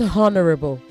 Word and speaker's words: honorable: Say honorable, not honorable. Honorable judges. Honorable. The H is silent.